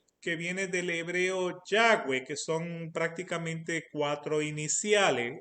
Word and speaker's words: Yahweh: W y la H, que los judíos la pronuncian como Yahweh.